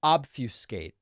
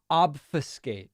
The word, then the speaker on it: obfuscate: google the pronunciation of obfuscate all right is it is it different than how i'm saying it let's see the pronunciation uh obfuscate oh it's obfuscate not obfuscate obfuscate that does not